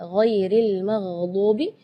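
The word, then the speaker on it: غير المغضوب: ya, ghairil maghdubi ya, perlu diperhatikan bukan G, bukan huruf G ya, bukan ga, tapi gha. Jadi kalau ga itu dia makhrajnya dari lidah. Ya, tapi kalau huruf ghain itu dari bagian tenggorokan ya. Jadi gha.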